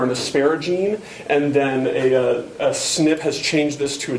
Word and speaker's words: SNP: That's SNP, or pronounced SNP.